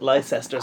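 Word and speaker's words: Leicester: come over here and they can't pronounce that LE leester Square they say like Lester Square I like that don't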